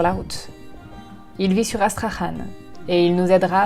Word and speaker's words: Astrakhan: peu et d'aller visiter la ville d'Astrakhan, qui s'écrit Astrakhan en fait.